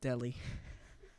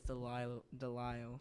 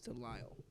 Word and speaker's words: Delisle: Delisle, my apologies, not Deli. I said Deli. It's Delisle. I probably mispronounced it a bunch of times in this stream, but it's Delisle. It's not Deli.